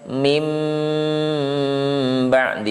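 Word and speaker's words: من بعد: Misalnya, ya, min ba'di, nun sukun bertemu ba, ini membacanya mim ba'di.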